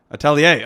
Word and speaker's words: Atelier: linked up with Lee Jin when her fund Atelier, I'm sure I'm botching the pronunciation of that, merged with Variant Fund. Atelier, amazing.